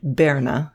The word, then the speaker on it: Pirna: "I am from Pirna." He pronounced it Berna, speaking in a round Saxon dialect.